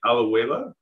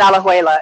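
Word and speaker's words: Alajuela: me here was that in out I don't pronounce it right aloeva yeah that's the the farm is in alejuela it's um it's just like from state to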